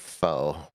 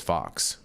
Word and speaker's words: faux: Um, well, everybody else in the world pronounces that foe, meaning fake. Well, that everyone can be an idiot if they want to, Jesse, but it says Fox.